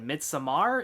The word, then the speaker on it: Midsommar: let you know that mid Samar is no perfect movie and that's also how you say it according to the director so MIT Samar focuses on a couple